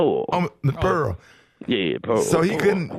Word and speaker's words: Pearl: to say my name right it's Miss p p e a r l p oh miss Pearl yeah Pearl so he can you can put